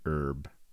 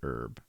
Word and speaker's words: herb: Um, I grew up pronouncing it herb. Everyone I knew always pronounced it herb, but I sometimes say herb uh because it's fun to say it that way.